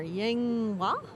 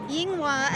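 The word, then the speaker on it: Yinghua: bit itself coming up next um what's that pronunciation down there yang wang academy oh do you have that i thought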